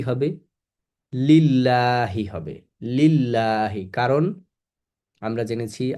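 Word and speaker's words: لِلَّهِ: লিল্লাহি হবে।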